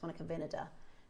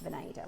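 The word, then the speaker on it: Monica Vinader: So, if you go to Monica Vada or Monica, it's actually pronounced Monica Vinada. For years, I've pronounced it Venada.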